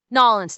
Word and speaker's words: New Orleans: There there's no city that has the the the the aesthetic and the visuals that Nolins does. And yes, I pronounced it correctly, Nolins.